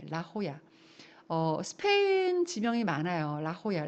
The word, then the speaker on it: La Jolla: La Jolla. La Jolla가 아니라 La Jolla입니다. 예. J 발음이 H 발음으로 하죠.